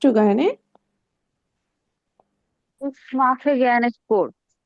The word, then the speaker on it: Sport: Ich mache gerne Sport. স্পট, SP, they always উচ্চারণ করে হলো তালিবস্য।